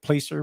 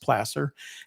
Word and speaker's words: placer: referred to as Placer deposits it looks like Placer but it's pronounced Placer and that means the there's this is alluvial